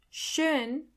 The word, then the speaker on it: schön: Schön. Schön. Means beautiful. Do you hear the O umlaut in the middle?